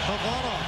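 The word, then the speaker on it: Khavanov: I want it pronounced Kavanov. That's how my family pronounces it back in Russia.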